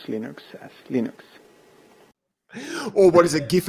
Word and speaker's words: Linux: I used to call it Linux. Hello, this is Linus Torvalds, and I pronounce Linux as Linux.